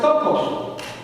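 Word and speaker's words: πτωχός: Y esa palabra es tokos. Se escribe P-T-O-C-H-O, tokos en griego.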